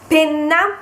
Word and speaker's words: penna: Then we've got Penna, which is the object you write with, and it means pen. And if you do not pronounce the double N, it becomes pena, pena, which means pain, suffering. So penna, pena.